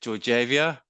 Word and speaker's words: Georgieva: Is it Georgieva? Tell me how you pronounce it. Close. It's like Georgieva. Don't worry, tongue twister. Like George is fine.